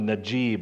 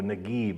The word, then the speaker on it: Naguib: 1953, Mohammed Najib, or Naguib in Egyptian pronunciation, becomes the president, and Egypt is declared a republic.